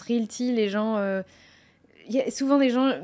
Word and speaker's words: RealT: Alors, des fois, quand je prononce Realty, les gens...